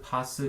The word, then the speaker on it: PaaS: 사스, 파스, 이아스라고 읽는데 풀어서 얘기하면 소프트웨어 애저 서비스, SaaS, 그 다음에 플랫폼 애저 서비스, PaaS, 인프라스트럭처 애저 서비스, IaaS가 존재하고요.